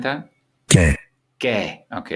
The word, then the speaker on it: και: Ke. Okay, it's pronounced ke.